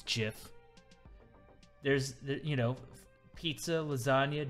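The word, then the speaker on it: GIF: i think these are the og's that have answers they have answers it's jif there's you know pizza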